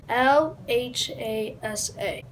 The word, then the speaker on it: Lhasa: Lhasa is the capital of Tibet. It is spelled L-H-A-S-A.